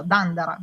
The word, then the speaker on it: Dendera: Quella esempio di di Dendera che l'altra volta giustamente avevamo detto che in in egiziano in egiziano proprio moderno si pronuncia dandara, quindi proprio quel dandara.